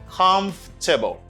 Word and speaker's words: comfortable: say come comfortable do not say comfortable this syllable isn't pronounced no they don't pronounce it like this don't say comfortable just say comfortable this is the way